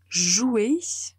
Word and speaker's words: joue: a cette règle que le singulier et la troisième personne du pluriel se prononce de la même façon donc même si on